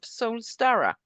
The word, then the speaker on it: Soulstara: She's a holistic health practitioner and founder of Soulstara. Is that the right way to pronounce it?